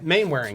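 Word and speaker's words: Mainwaring: Yeah, Main-Waring. You kept on saying Waring, and he told you.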